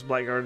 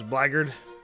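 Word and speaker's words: Blackguard: Uh I believe the Brits pronounce Black Guard as Blackard at least.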